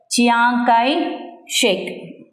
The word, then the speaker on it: Chiang Kai-shek: Pronunciation la nalla purinjikkanum pillaingala. For that, you have to have your textbook. Chiang Kai-shek.